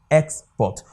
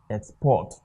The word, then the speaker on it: export: They say it should pronounce like a noun. That is why it is what? Export. But if they had asked us to pronounce it as a verb, it would have been what? Export.